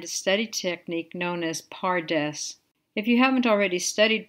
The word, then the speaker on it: PaRDeS: the principle behind a study technique known as pares if you haven't already studied pares which is spelled p a r d e s I